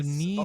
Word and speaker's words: knee: This is so dumb because it's like So knee doesn't have the hard case sound.